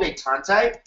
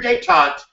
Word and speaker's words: détente: It's called détente. Is that how you pronounce it?